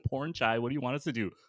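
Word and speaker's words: Pornchai: Wellness from episode one porn chai am I pronouncing that correctly porn chai okay so porn and then chai like chai after dark I think that's how you say his name that's how she says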